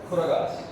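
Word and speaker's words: Koraga: in government records also they are pronounced as a KU not KO KU Kuragas okay official name for them.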